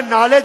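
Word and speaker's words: knowledge: है साइलेंट होता है जैसे नॉलेज में केस साइलेंट है जैसे नेस्ट में एच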